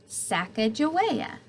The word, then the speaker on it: Sacagawea: has a fancy name Sacagawea you say it like this Sacagawea later miss glass has